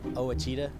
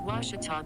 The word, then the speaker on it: Ouachita: ouachita sports digital network i've heard people say oh a cheetah oh wichita oh a cheetah is it pronounced oh akita searching for washi at a